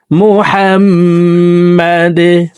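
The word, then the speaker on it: محمد: আল্লাহুম্মা বারিক আলা মুহাম্মাদ দাল কলকলার হরফ নিচের দিকে ধাবিত করে ধাক্কা দিয়ে উচ্চারণ করব মুহাম্মাদ আল্লাহুম্মা বারিক আলা মুহাম্মাদ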